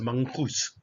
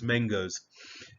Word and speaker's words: mangoes: which I also have I am forever tempted to pronounce this as Mangus I don't know why it just seems so very logical but please you don't do it it's mangoes and it's spelled with